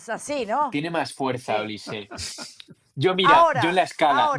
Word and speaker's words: Olise: Olise, que por cierto, ¿cómo se pronuncia Olise? Es Olissé. Olis Olise. Según Barak Fever. Olis. Pues Olis. Yo creo que eso lisé porque el otro día escuché que en la Bundesliga hacen una cosa que es que todos los jugadores a principio de temporada graban un vídeo diciendo su nombre y apellidos para que después en los medios se pueda pronunciar correctamente. Y creo que decía Olisé, ha acabado con esto,